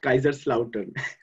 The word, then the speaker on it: Kaiserslautern: So, just to clarify it, it's pronounced Kaiserslautern.